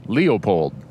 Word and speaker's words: Leopold: And then the conservationist, the father of wildlife management, Aldo Leupold, is like Leo, the lion, Leopold. But a lot of people say it fast, and it sounds like Leopold.